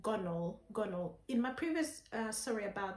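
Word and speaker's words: Gonal-f: injections and um the main injection is called gonol in my previous sorry about that but in my previous video i might pronounce it as gonord but it's gone all uh g-o-a-a-g-o-n-a-l gonna f uh it's a type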